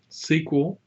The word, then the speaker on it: SQL: so what is sequel sequel pronounced like I've been saying it is structured query